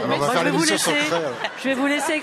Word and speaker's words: Crest: De Cré. De Cré? Eh. Crest, ça s'écrit.